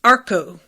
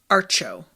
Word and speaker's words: Archos: near infinite krista says it's arco not archo okay arco arco the s is silent um arco okay uh